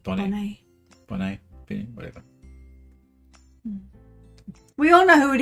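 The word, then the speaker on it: Bonet: married to lisa bonnet we don't pronounce the t bonnet i said bonnie we all know who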